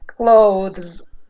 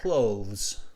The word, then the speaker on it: clothes: for pronunciation clothes oh clothes yeah there's the e is the e is omitted so just clothes yeah clothes clothes okay